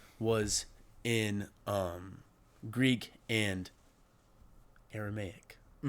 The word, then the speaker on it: Aramaic: New Testament was Greek and Armenian. Am I pronouncing that right? Aramaic.